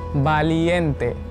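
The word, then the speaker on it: valiente: अगला है करीजियस, है ना, इसको कैसे बोलेंगे, बहादुर, वालिएंटे। वी को बा से प्रोनाउंस करेंगे, वालिएंटे, वालिएंटे, वालिएंटे।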